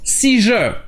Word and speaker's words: seizure: Il y a juste une petite exception avec le mot si-je. Ici, le ZU se prononce je, comme le SU dans le mot measure.